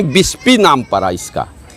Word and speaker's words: बिस्फी: के नाम पर ही विस्पी नाम पड़ा इसका जो अंग्रेज आए तो विस्पी का सही उच्चारण नहीं कर सके तो बिस्फी कर दिया और तब सेय ब